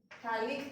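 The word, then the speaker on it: phthalic: थैलिक acid, इसमें P silent होता है, ठीक है, बोला थैलिक एसिड जाता है, लिखा पिथैलिक एसिड जाता है।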